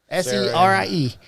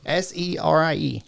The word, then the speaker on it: Serie: going in to meet Ciri. Yeah. Ciri, however you say her name. Sine. No, it's not. It has an R. Brother. Look. Right there. Serie. What is it? Serie.